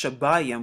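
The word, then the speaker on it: שבעים: It's a cardinal number, and it's pronounced shabayim, which means 70.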